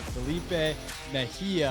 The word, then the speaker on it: Felipe Mejia: so today we have Felipe Mejia I had to ask him to make sure I I pronounced it my the silent J in there that's right but he's